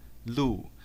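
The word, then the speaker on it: 鹿: a deer in chinese liu the pronunciation of this animal ooh is the same as another Chinese character Lou which means official salary therefore dear in Chinese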